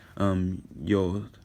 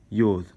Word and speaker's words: yod: Yod is how you pronounce it. You'll hear yod. You'll hear some other pronunciations too, but it's originally pronounced yod in Hebrew.